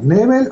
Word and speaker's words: Nebel: todo bien gracias a la pronunciación correcta en tu nombre pues sería nivel en ese nivel ok